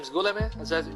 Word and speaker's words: Guillaume: Alfred, I think his last name is Guillaume, is that pronounced? Guillaume. Guillaume, G-U-I-L-L-A-U-M-E, translated Ibn Ishaq's Sirat Rasulullah, the life of the Messenger of Allah, into English.